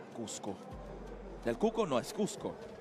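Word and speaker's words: Coosco: But it's spelled differently. C-O-O-S-C-O. Cusco.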